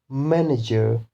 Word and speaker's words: manager: or three syllable words, those words which end in er or ly, then the stress will be on first syllable, such as manager, manager, silently, silently. So stress is on the first syllable when the words end in er or ly.